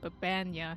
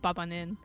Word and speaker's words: Baba: I have to remember that's how that's how you say her name. Baba, not Babanin.